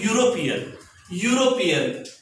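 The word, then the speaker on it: European: आमे एमिति पढुनु आमे पढुछु यूरोप यूरोप सो यूरोपियन तो आमे देखुछु प्रोनाउंसिएशन केमिति होची य रु आरंभ होची य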